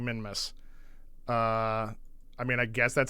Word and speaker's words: Minmus: I'm not saying Minimus, I'm saying Minmus. I mean, I guess that's how you say it. I don't know. I just know I'm not saying it totally wrong.